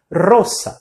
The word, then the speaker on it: rosa: Lembra lá da palavra ro que a gente tem que vibrar o r quando começa. A mesma coisa que roça e fechando o não é roça.